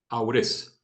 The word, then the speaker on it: Aurés: puntualizó aures aures o aures perdón Cómo se pronuncia tu nombre aures verdad a a como bien señaló como bien